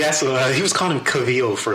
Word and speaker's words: Cavill: He be pronouncing them wrong for years. That's not true. What's Superman's name? Henry Cavill. Oh, yeah. We worked on it. Henry Cavill. We asked he was calling him Cavill for like years.